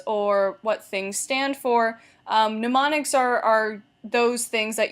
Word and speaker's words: mnemonics: actually pretty cool so that's that's how you pronounce it mnemonics not mnemonics it's mnemonics these are formal techniques that make material more